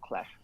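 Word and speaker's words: Qlash: I would have just said Q-Lash, but I don't know. Yeah. Actually, Stream, I help us think out. they pronounce themselves as Clash. Yeah. Oh, they just say Clash.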